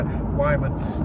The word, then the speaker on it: Wyman: I sometimes struggle with the pronunciation of the surname. That's why Wyman.